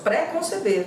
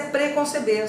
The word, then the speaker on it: preconceber: Eu também ouço pré-conceber, mas é preconceber, sem hífen e sem acento.